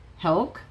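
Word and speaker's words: whelk: Hulk is a W silent.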